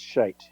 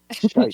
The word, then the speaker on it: shite: pronounced shite. You have to say shite.